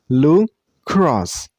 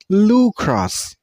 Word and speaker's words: lacrosse: Lacrosse. Lacrosse. You should stress on the second syllable. I mean on cross sound. Lacrosse. Not Lucrosse. Okay? It's lacrosse.